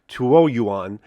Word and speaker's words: Tuoyuan: I think the proper pronunciation of this particular sample sword I have is TUOYUAN, and this is the final version of the TUOYUAN sword that I have.